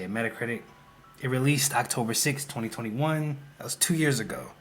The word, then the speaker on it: Metacritic: That's how you say it, Metacritic.